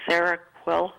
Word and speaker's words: Seroquel: But she, a while ago, prescribed this for sleeping, Seroquel, I Yep. believe is how you pronounce.